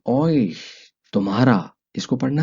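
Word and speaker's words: euch: जमा हो जाते हैं, वो बन जाता है ऑइश, तुम्हारा। इसको पढ़ना है ऑइश।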